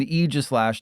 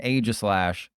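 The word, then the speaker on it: Aegislash: Yes, that's how it's pronounced. It's Mimi and Eegislash, not Mimikyu and Agislash.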